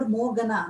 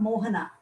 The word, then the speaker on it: Mohana: Yeah, because I am not called, I used to be called Mogana, not Mohana.